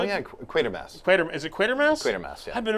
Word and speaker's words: Quatermass: Quatermass, yeah. I've been mispronouncing it the whole time.